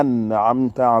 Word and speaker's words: أنعمت: Et après le an, nous avons le a qu'il faut dire, qui est grave. D'accord? Qui n'existe pas en français. C'est pas an amta alayhim.